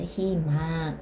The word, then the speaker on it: 희망: 그러면 어떻게 발음한다고요? 이로 발음해야 된다고요. 그래서 희망 이렇게 된다고.